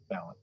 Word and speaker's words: Balint: And how do you pronounce the last name? Is it Balint? Balint.